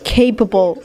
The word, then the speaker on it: capable: capable of خلي بالكو capable دي كلمة تريكي قوي. فيها 2 بيز. واحدة بي تقيلة اللي في الأول والتانية بي خفيفة. ما ينفعش تقول capable. ما تنطقش الاتنين بي تقيلة ولا تنطق الاتنين بي خفيفة.